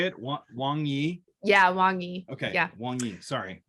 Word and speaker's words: Wang Yi: In 2018, when Wang Yi was arrested. Is that how you say it? Wang Yi? Yeah, Wang Yi.